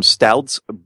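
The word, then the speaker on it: Stoudts: It's from Stouts Brewery, which is always a confusing one to say because it sounds like a kind of beer, but it's stouts.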